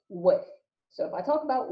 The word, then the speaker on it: WFF: So, well-formed formula, or this will often be abbreviated WFF and pronounced WIF.